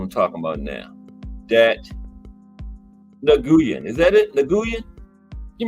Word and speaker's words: Nguyen: I know that is right because there used to be a guy playing for the Dallas Cowboys named Dat Win. Remember him? Didn't have a W nowhere in his last name, but it said Dat Win.